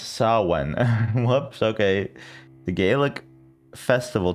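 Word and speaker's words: Samhain: Yeah, let's look up uh I guess Sam Hine pronounced Sawen.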